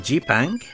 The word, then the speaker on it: Zipang: The name G-Pang, yes, that's how the word is pronounced, was at one point the name of Japan.